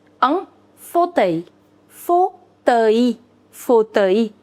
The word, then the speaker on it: fauteuil: An armchair is known as un fauteuil. Un fauteuil. Fauteuil. Fauteuil. L is silent.